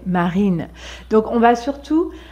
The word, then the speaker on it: Marine: Marine, c'est très léger. Marine. Il y a une petite vibration, mais elle est légère. On ne dit pas Marine, mais Marine.